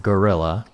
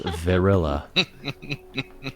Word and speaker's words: Verilla: She is not gorilla. She is Verilla.